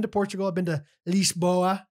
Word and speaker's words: Lisboa: portugal i've been to lisboa that's how they say it's lisbon to the americans uh lisboa cascais scott